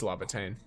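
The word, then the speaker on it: Laevatain: It's Lavatane. It's spelt like Lavatane, so L-A-E-V, and then the Tane is T-A-I-N, I think.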